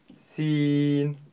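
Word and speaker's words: سين: произнести вместе букву Син Син си Син буква мягкая и произносится она мягко Син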